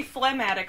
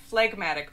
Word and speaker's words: phlegmatic: So you'd think it would be phlegmatic, but it's actually phlegmatic. But it is, you'll notice the word phlegm is in there, so a lot of people think it means like phlegmy.